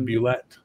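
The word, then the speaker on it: Bulette: the creation of the Boulette. The Boulette? The Boulette. Attention. I published the correct pronunciation with the monster in July of 1976, okay. Dragon number one. Boulet. Why? Because I said so.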